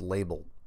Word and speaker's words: Libel: let's see here from Bruce libel pronounced label Flat Earth or in